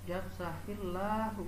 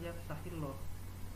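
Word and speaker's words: يفسح الله: Yafsahillahu, yafsahil, hil itu adalah lam jalalah takik atau dibacanya itu tipis, ya tipis. Tahillah bukan tahilloh, ya yafsahillah ya bukan yafsahilloh begitu.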